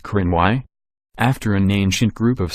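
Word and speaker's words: Cruithne: other the periodic planetoid is named crew 'the pronounced Crenn why after an ancient group of Scottish people also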